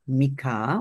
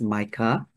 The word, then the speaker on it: Micah: apostasy and this is the story of Mika or some people may pronounce as Micah Micah came from the